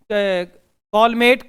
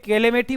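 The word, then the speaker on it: Calmette: Bacillus कॉलमेट, कैलेमेटी बोलते हैं, ग्लूरिन, Guérin वैसे इसको बोलते हैं, ग्लूरिन नहीं है, ग्यूरिन है। इसे कॉलमेट बोलते हैं, कॉलमेट, सिर्फ उच्चारण का फर्क है प्यारे बच्चों।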